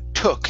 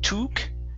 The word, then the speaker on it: took: beginning okay we have the word took instead of tuk okay open your mouth a little bit more there so but he took